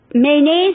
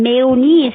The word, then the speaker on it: mayonnaise: structure please notice that the word name is mayonnaise it's the correct pronunciation and mayo nice which is more common